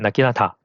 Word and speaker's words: なぎなた: It’s still pronounced “Naginata,” but the writing is different.